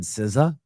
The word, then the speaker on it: SZA: He said, "Sciza." I'm like, "How do you spell that?"